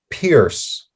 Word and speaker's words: Pierce: pronouncing that name correctly it's actually pronounced pierce like piercing or pierce brosnan excellent okay good make